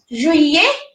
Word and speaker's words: juillet: Like in juillet, juillet, that means July, and it has double L, so we are not pronouncing double L.